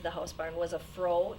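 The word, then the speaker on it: froe: to get into the house barn was a fro it's pronounced for froh and that's a tool that's used to make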